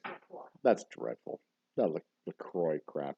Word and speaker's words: LaCroix: If I pronounce it in French, it's LaCroix.